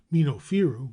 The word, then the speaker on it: Minofiru: Minofiru, which is the correct pronunciation and the origin of Memphis, probably signified